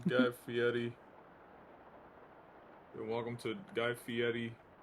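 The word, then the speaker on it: Fieri: Um, of course I could very much be wrong there, but I've never I've never seen or heard of a language or culture that would pronounce the double Rs as a T.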